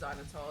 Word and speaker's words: xylitol: I'm pretty sure it's xylitol. At least that's how I've been pronouncing it for like the past 12 years.